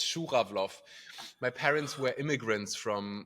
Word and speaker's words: Schura: It's really hard to pronounce. Right. Sometimes I have difficulties myself, and it's my and it's my surname. It's Schura.